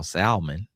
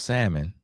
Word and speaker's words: salmon: salmon which y'all call salmon. It's called salmon. The L is silent.